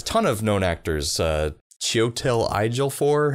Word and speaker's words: Chiwetel Ejiofor: Chiwetel Ejiofor, how do you say his name? Chiwetel Ejiofor, yes.